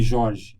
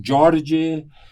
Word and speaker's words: Jorge: Por exemplo, o meu nome, Jorge, eles não conseguem pronunciar Jorge. Eles pronunciam Jorge. Eu digo, então me chama de Jorge, vai. Então eles me chamam de Jorge.